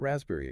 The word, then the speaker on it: raspberry: Think about that raspberry again. The silent P.